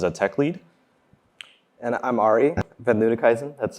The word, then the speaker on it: Arie van Luttikhuizen: And I'm Ari Van Ludekhuizen. That's how you pronounce that.